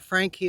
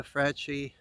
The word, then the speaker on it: Franchi: and friends and but that frankie i showed you the franchi depending on how you want to pronounce it that's very very slick